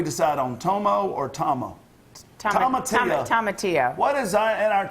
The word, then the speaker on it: tomatillo: You don't pronounce it's the two L's are more of a Y sound.